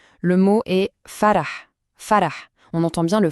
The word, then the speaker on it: ف: Il s'agit de la lettre fa. Là, franchement, aucune surprise. La prononciation, c'est exactement celle qu'on connaît déjà en français. C'est le son pensé à France facile. Voilà, c'est ce son-là.